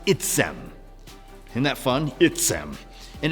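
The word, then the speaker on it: עצם: It is pronounced itzem.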